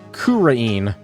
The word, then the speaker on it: Kurain: I think it's pronounced Kurain.